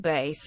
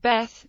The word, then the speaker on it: Bet: no do for V this letter is named bet and vet following the modern Israeli Hebrew pronunciation bet and vet in Israel and by most Jews familiar with Hebrew although some non-israeli ashkanazy speakers pronounce it bass and Bas it is also named Beth following the Tiberian Hebrew pronunciation in academic circles in